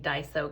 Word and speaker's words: Daiso: look at me pronouncing daiso correctly you know how i figured it out i want to say dyson vacuum cleaners and so instead of saying dyson i say daiso and drop the n that's thanks to bella